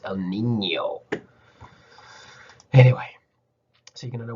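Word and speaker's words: El Niño: the n in spanish means you pronounce it like ny instead of n so it's not el nino it's el nino anyway so you're gonna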